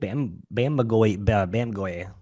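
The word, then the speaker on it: Bamgboye: Yeah, Luke Bamgoy, the Englishman.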